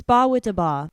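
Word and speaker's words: Bawitdaba: The album was a major commercial success, spurred by the popularity of the song, I do not know how to say this, Ba with da Ba. Okay. It's Ba with da Ba.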